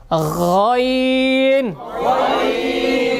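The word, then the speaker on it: غ: আমরা যে আওয়াজটা হয় ঠিক ওই জায়গা থেকে উচ্চারণ হবে হ্যাঁ সবাই শোনেন আগে কথা বলবেন না গাইন গাইন গাইন গাইন গাইন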